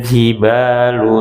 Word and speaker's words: الجبال: Nah, hati-hati, masih banyak di antara kita yang membacanya dengan pantulan, seakan-akan itu adalah qalqalah, padahal bukan ya.